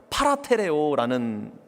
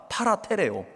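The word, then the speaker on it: παρατηρέω: 여기서 삼가 지키니라고 하는 이 번역된 이 헬라어는 파라테레오라는 이렇게 발음하는 헬라어 단어인데요. 제가 오늘 여러 번 이 단어를 말씀드리겠습니다. 파라테레오.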